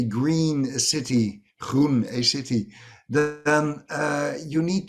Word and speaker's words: Gruen: was another excellent one as a dutchman i of course like to pronounce the word roon as as we do it in dutch and i know that hardly anybody outside of the borders of our country is able to do so but that means green